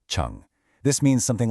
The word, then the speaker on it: 成: And finally, we have chun pronounced chun.